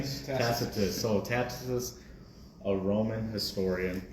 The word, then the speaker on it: Tacitus: Tacitus.